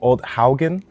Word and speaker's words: Odd Haugen: and I'm lucky enough to be here with old Haugen that's how you say it correctly yeah well